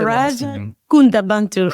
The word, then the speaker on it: Faraja Kunta Bantu: How do I say Faraja Kunta Bantu. N is silent. Oh, don't say the N.